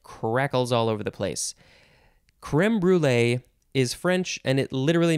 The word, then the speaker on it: crème brûlée: Next is crème brûlée. You could also do that sort of fancy French thing, crème brûlée. I can't do it so good.